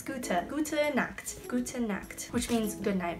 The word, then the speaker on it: gute: But in German, I'm not sure if you do this for everything, but like, so like G-U-T-E, for gut, you have to go gute, not just gut, which as an